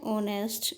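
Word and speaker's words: honest: Ritu has a beautiful dress, my cousin is a doctor, my father is एन ऑनेस्ट मैन, यहाँ पे again H जो है silent है, तो आपकी इनिशियल साउंड ओ हो जाएगी, ऑनेस्ट।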